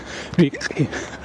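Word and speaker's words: Rike: So this is the entrance to Ray Park. I think that's supposed to be pronounced Rik Park. I can't pronounce it right.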